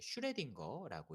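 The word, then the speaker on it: Schrödinger: 위에 보이시는 것처럼 이거 저도 처음에 뭐 어떻게 읽나 했더니 이제 슈레딩거라고 읽더라고요. 슈레딩거는 이제 유명한 물리학자 이름이죠.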